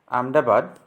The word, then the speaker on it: Ahmedabad: what are the tourist place located in gujarat ahmedabad pronounces amidabad by gujaratis is situated on the banks of